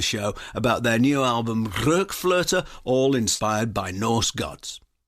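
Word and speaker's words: RökFlöte: Anderson to talk about, what's the definitive pronunciation, Ian? RokFlote? I'm looking at the umlauts over the O's. That's just perfect, yes. A good umlaut shouldn't go unnoticed, and you got it.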